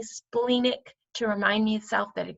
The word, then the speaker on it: splenic: Now, the next one is the splenic, or splenic actually is how it's pronounced, but I like to say splenic because